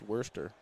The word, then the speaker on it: Worcester: It's Worcester.